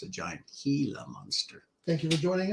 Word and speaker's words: Gila: those who don't know Gila is spelled with a G not an H so if you look at it you might say oh the the Giant Gila monster no it's a Giant Gila monster thank you for